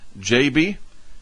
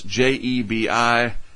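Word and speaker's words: Jebi: there's the typhoon and I believe it's pronounced JB JB something like that at least somebody was trying to explain that to me on the YouTube comments nevertheless je bi out in the Westpac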